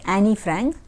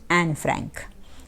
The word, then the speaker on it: Anne Frank: who was anne frank some people pronounce this at annie frank but not like that so better to pronounce it anne frank so written by louise